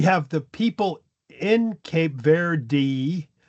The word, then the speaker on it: Verde: But then we have the spa uh Portuguese who had taken over the land and basically or you know settled the land pronouncing it ver and then we have English speakers hearing that and then pronouncing it without the e is what I think happened.